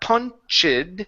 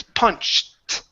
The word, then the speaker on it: punched: well she okay so we don't want to pronounce the e it's not punch it it's punched oh just won't you